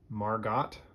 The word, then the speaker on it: Margot: all right that's margo some people think that her name is margaret or margot because there is a silent t at the end margo let's do a new